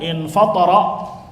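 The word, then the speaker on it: انفطر: Nah, ketika ikut wazan infa'ala berarti dibacanya infatara, maka artinya terbelah.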